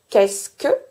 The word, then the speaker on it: qu'est-ce que: Here we will have the same observations as for "est-ce que" ie I do not pronounce the e of ce in "qu'est-ce que".